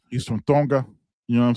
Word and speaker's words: Tonga: He's from Tonga. You know what I'm saying? You don't pronounce the T, it's always pronounced like a D. You know what I'm saying? He's from Tonga.